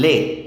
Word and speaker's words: les: Now, the definite article in French has four forms: le, la, L apostrophe, and les. Les is pronounced le, and le is pronounced le.